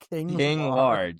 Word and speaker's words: King Large: King Large. Yes, his name is King Large. He and plays it's as spelled like LARGE. ARGE. Like I'll get a large Diet Yeah, Coke from like- McDonald's.